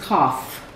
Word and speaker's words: cough: This is cough. Cough. So the GH says the third sound.